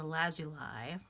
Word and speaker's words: lazuli: second so this is the lapis lazuli or lazuli as depending on how you pronounce it this one is a